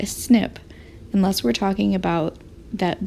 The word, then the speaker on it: SNP: t a g and then there is a snip in the population at this position that i've